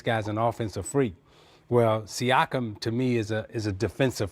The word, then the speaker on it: Siakam: really lock you down, and then I always mispronounce his name, Siakam. Pascal Siakam.